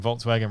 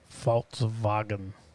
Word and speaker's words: Volkswagen: Statement from Volkswagen read, the Volkswagen brand is on its way to becoming the leading supplier in sustainable electric mobility.